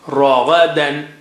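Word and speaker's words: رغدا: Ra is thick, Ra is high sounding. Ra, dan. Da is low. Ragadan.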